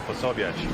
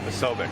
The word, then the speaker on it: Posobiec: I think he pronounces his name wrong. It should be Posobiec, not Posobiec.